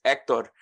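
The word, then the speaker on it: Héctor: But yes, the proper pronunciation of my name is Hector. The accent mark is on the E. So yes, the H, I guess in some sense the H is silent.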